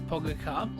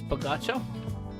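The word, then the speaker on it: Pogačar: So, By the way, if you do not know who um Pagacha is, Baga, I know it says Pogaka, uh Slo uh Venian uh pronunciation is Bagotcha.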